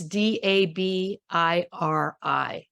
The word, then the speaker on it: Dabiri: I don't know how to pronounce their last name because I've never heard it and I'm dyslexic. It's Dabiri.